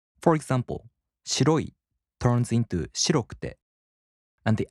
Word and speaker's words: 白く: In the downstep type adjectives, the accent falls on the third to the last mora. For example, 白い turns into 白く, and the accent falls on し. 白く.